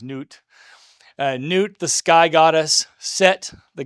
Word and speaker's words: Nut: And I know it looks like nut, but it's pronounced newt.